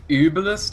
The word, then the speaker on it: Uebelst: our pronunciation of the the German team on the dire UB I guess it's more like uist or something there's no extra e oh yeah so it